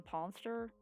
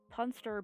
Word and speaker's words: punster: The ponster? Punster, but it's spelled like monster.